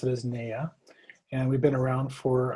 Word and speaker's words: NAYA: Well, the acronym NAYA, we pronounce it as NAYA, and we've been around for about 46 years.